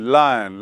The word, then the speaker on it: loin: लॉयन मतलब होता है कुछ और, लॉयन मतलब होता है कमर।